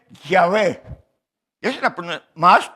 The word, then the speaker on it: Yahvé: Y más o menos la pronunciación es Yahvé.